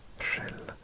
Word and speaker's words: Rhyl: You can see Rhyl. Yes, I did pronounce that correctly. Rhyl.